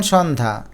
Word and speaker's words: সন্ধ্যা: যেমন সন্ধ্যা এখানে সন্ধ্যা দেখো শেষে জফলা আছে কিন্তু তার উচ্চারণটা হলো না।